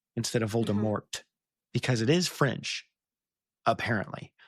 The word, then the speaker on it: Voldemort: Jim Dell kept saying Voldemort instead of Voldemort because it is French apparently. But anyway, well, and JK Rowling even was like, "Oh yeah, it's supposed to be the French pronunciation."